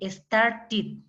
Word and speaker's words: started: Aquí a este ed, usted en cambio lo va a pronunciar como id, que sería ¿qué? Started, started, ended, ended, con id al final, ¿ya?